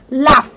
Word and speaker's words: laugh: Động từ laugh này này, nó là có cái chữ GH này, nhưng nó phiên âm là chữ F. Chúng ta đọc là laugh, laugh, được chưa?